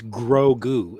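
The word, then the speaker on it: Grogu: gru yeah that's different it's grow goo in star wars but they pronounce it the same way g-r-o-g-u i'm going to double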